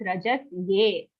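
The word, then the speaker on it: रजस्ये: Okay, if you say rajasye, it sounds like a double sa sound. Here it's rajasye.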